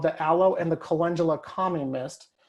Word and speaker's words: calendula: So I say calendula, some people say calendula. So hey, Emily, how do you say it? Calendula or calendula? It depends on the day and who I'm talking to. I would say calendula is my normal way of saying it.